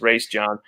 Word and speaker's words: Raesjon: raise john davis and that's that's how his father pronounced his name was in our interview his race john um how what i